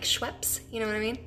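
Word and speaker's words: Schuepp: So everyone says Mrs. or they'll be like Mrs. So yeah, it's Schwepp. Like there's actually a soda like Schweppes, you know what I mean?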